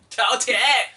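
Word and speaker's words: 饕餮: Can you pronounce it? What, China? Tao Tie? Tao Tie!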